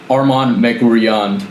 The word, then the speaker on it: Armand Meguerian: So the correct way is Arman Magurian, but I've heard Magurian, etc. So whatever is most comfortable for you. I think Magurian is probably the most common pronunciation I've heard, so I'm fine with that one.